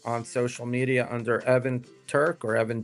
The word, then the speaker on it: Turk: It's easy to remember Turk. It rhymes with jerk.